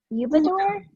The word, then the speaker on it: Udabor: help me understand the pronunciation of your last name is it eubank okay so just like it's spelled yes perfect perfect perfect